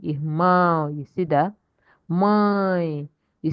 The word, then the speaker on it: irmão: Um, when a word, when a word does not have accent like this, when it has accent, is that accented syllable that you will stress. That's why we say irmão, irmão.